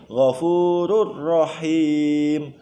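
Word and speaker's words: غفور رحيم: Cara membacanya adalah diidghamkan. Tanwinnya hilang. Ghafurur rahim, ghafurur rahimun ya. Langsung masuk ke ro, seakan-akan ro-nya itu ditasdid.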